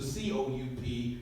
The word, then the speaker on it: coup: So you have a word like S-O-U-P, and it's pronounced soup, but you can't follow and apply that rule to C-O-U-P, that's pronounced coup, right?